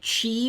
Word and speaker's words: Qi: And I do believe it's pronouncedqi. it. Correct me if I'm wrong. That's how I seem to remember it. You can get chi wireless charging with an